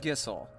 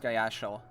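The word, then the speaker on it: Gysahl: gonna what's gonna happen next got all my gissel greens and it is pronounced gissel it isn't pronounced guyashal uh as it looks now if it takes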